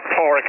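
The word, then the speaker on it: Paraic: It's Porrick, Papa Alpha Romeo, Alpha India Charlie, paw of a dog and a rickshaw is my pronunciation guide in QRZ. Back to you. Porrick, I think you said.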